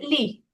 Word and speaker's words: gli: Gli studenti. Ajá, yo tengo ahí una pregunta. Adelante. En el artículo determinado masculino, justamente es el plural. Ese gli se pronuncia li.